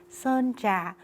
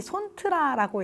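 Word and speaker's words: Sơn Trà: 등장하는 나무인 반얀트리가 있는 선자 선자반도입니다 영어로 읽는 분들이 손뜨라라고 읽으시는데요 저랑 같은 손씨 아니고요 선입니다 선자예요 여기는 사실 다낭에 살고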